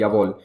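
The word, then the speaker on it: Ya_All: ये लिखा इस तरह से जाता है लेकिन इसका नाम प्रोनाउंस होता है यवोल।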